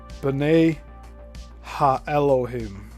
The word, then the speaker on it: B'nai Ha-Elohim: They give pronunciation in parentheses. B'nai Ha-Elohim, or sons of God, or gods.